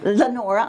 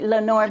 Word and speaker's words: Lenore: Dr Jacqueline Lorraine Banks Lenora I'm sorry I'm sorry Lenore whatever you pronounce my